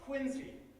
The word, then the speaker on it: Quincy: the opening chapter of this book is called quincy and for those of you from out of town that is how it's pronounced don't make that mistake around here you'll